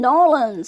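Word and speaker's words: New Orleans: And then we will be at NFB in Nolans.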